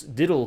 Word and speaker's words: diddle: If you pronounce diddle quickly several times in a row, you will hear how it should sound better than I can express in writing. Diddle, diddle, diddle, diddle, diddle,